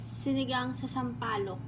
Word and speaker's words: sinigang sa sampalok: It's sinigang sa sampalok. Yeah, I'm not going to try to pronounce that on the video.